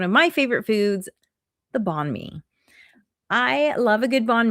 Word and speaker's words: banh mi: And Vietnam is also home to one of my favorite foods, the banh mi.